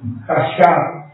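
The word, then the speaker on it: חשב: Sigue la Quinta, la quinta, es Hashab, comienza con K de kilo, Hashab, K, J, A, S, H, A, B grande, Hashab, con acento en la última A.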